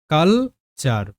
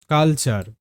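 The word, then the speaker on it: culture: কালচার কালচার কালচার কালচার শব্দের অর্থ সংস্কৃতি বোঝা গেল তো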